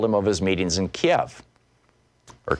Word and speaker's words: Kiev: Trump and told him of his meetings in Kiev or Kiev as apparently that pronounced it and in in Ukraine the member